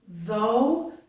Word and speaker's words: though: So this word is though. It uses the voiced TH sound.